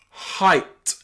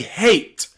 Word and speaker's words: height: Look at words like height, how tall someone is, height. We don't say hate, we say height. And also slight. Luckily, this is not common. Normally, the pronunciation of E-I-G-H-T would be eight, weight, freight, okay? But in some cases, the letter E here can be pronounced I, as in height or slight.